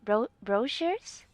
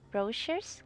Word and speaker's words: brochures: ink but ink pad you pronounce the ch as sh sound brochures brochures kinda am i pronouncing